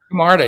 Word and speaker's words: Camarda: You were retweeting a lot of Charlie, is it pronounced Camarda? Camarda, yes.